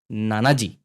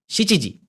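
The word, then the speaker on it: 七時: शाम के अबब्सोलुटली right it's नाना जी Shachi जी majorly शचीजी बोलते हैं नाना भी बोलते हैं सेवन को या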